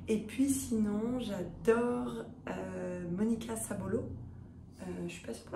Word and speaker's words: Sabolo: Et puis sinon, j'adore Monica Sabolo. Je suis pas sûre pour la prononciation. Sabolo, c'est juste.